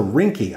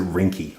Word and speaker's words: Ringke: It's R I N G K E S. So, I'm going to pronounce it rinky.